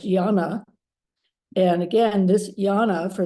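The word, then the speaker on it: jñāna: So the antecedent of this is the Sanskrit, which is pronounced yana.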